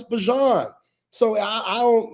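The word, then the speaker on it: Bijan: Hell, we just found out this year we've been calling Bjon Robinson's name wrong for the last however many years. Like it's not Bejon, it's Bjon.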